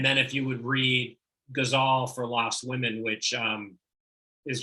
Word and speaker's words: ghazal: I've always known it as a guzzle, but ghazal, I guess potato.